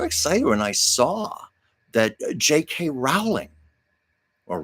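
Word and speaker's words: J.K. Rowling: And I was so excited when I saw that JK Rowling or JK Rowling which is the correct pronunciation um you know wrote the Harry Potter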